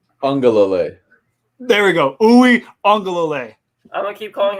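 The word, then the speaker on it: Uiagalelei: Uwe Ungalale. I'm going to keep calling him ukulele.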